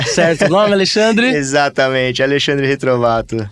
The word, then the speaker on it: Retrovatto: profissional que estou falando é o Alexandre retrovato pronunciei seu nome Alexandre exatamente Alexandre retrovato é uma grande honra receber você aqui e